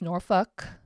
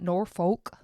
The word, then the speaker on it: Norfolk: evening in norfol so and it's norfol okay not Norfolk I know that's how it's spelled n o r f o l k I know it's spelled Norfolk but it's noruk okay norfol guys get it straight so that was it